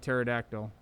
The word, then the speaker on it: pterodactyl: So if I click on the pseudocode, it's pronounced pseudocode, not with a P. It's a silent P, kind of like pterodactyl.